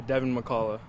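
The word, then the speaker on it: Devin McCalla: your first and last name for me uh devon mccalla and how do you spell that d-e-v-i-n-m-c-c-a-l-l-a all right devin so first and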